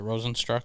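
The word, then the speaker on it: Rozenstruik: do you have so uh wrote is it rosenstruck is that how you say his name yes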